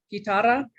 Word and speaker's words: guitarra: ¿Te gusta la, is it guitarra or Sí. guitarra? Guitarra with a hard G.